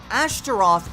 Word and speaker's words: Ashtaroth: not me starting and you'd be right however Ashtaroth is the hebrew pronunciation a starting and the name itself can